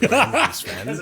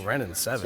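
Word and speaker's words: Wrenn and Seven: I was wondering because I always misread it as Ren Sven. That name keeps coming up because it rhymes. Because it rhymes. And then one day I looked at the card, really looked at it, and oh, Ren and 7.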